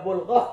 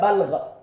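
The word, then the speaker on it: بلغة: Nah, bulghah ini ada bulghah, ada balghah. Hati-hati bacanya. Ini artinya beda sekali nih. Kalau balghah itu puncaknya kebodohan. Itu disebut balghah. Tapi kalau disebut bulghah, itu kekuatan untuk menahan penderitaan dalam kehidupan.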